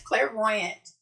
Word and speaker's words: clairvoyant: he said I was saying it right it's Clairvoyant and it means to like be able to